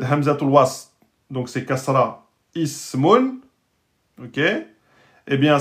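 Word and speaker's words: اسم: Eh bien, si c'est précédé par un mot ou par une lettre, je ne le prononcerai pas. Je ne dis pas, par exemple, min ismun. Min ismun. C'est pas possible.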